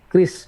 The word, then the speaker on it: QRIS: Terus nomor 6 ini agak sedikit advance ya, dalam tanda kutip mengenal transaksi cashless menggunakan tadi QRIS atau KRIS bacanya ya. Tulisannya QRIS, barcoding, kita bisa daftar